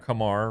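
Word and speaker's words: Kumar: Kamar rhymes with Lamar.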